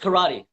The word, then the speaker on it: Kerati: you say your name by the way just karate just come on he's fine so our karate